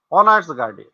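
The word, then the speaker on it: honours: শি is dash, she is dash অনার্স graduate. তো এখানে যেহেতু এইচ এর উচ্চারণ অ এর মতন হচ্ছে, সেই জন্য এখানে এ না বসে এন বসেছে।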